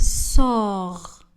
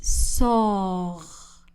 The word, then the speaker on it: sort: Il sort. Le T dans ce verbe ne sera pas prononcé. Il sort.